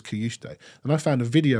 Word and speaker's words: Cajuste: So it's Kajuste. Right. So we get these Premier League videos where they tell you what their pronunciation is, and he says it gets sent out to all the broadcasters. Yeah. So he says Kajuste, and when he scored, someone said, "What's his name? We want to pronounce it right." I said, "Well, it's Kajuste."